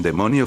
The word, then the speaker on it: daemon: y folklore un demonio o daemon Demon que se pronuncia Demon cuando nos preguntamos Qué